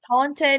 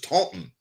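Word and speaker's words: Taunton: Taunt, Massachusetts. And I don't even know what it's because because my friend Robin's from up there and she wrote me by says this is Taon.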